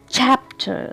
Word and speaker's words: chapter: Chapter. So stress should be on the first syllable.